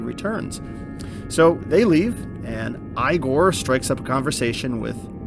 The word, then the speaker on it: Igor: Even though it looks like Ivan Igor, it's pronounced Igor.